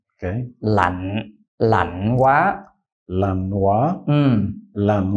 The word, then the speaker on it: lạnh: Now it's heavy falling and you gave it a gradual falling tone. This should be heavy falling. Okay. Lạnh quá.